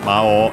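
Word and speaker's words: 魔王: It's worth mentioning that the accent of Mao is actually on the O. Of course not on the U, which is in this case O-U, so long O. So yeah, the accent stays not on the long vowel, but on the O, on the first one. But yeah, accented in the middle, so be careful, despite being technically a Chinese compound.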